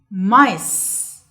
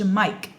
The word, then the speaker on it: mice: حاجة كمان نخلي بالنا كلمة mice سي هنا بتتنطق س. Okay? ما بقولش مايك. It's mice. تمام؟ عشان السي بعدها اي. لما السي بيجي بعدها اي بنطقها س. فبقول mice. Okay?